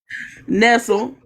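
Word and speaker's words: Nestlé: Nestle.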